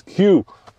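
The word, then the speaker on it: CUE: It's Q. Well, okay. Q is spelled C-U-E, Dad, and it stands for Cadillac User Experience.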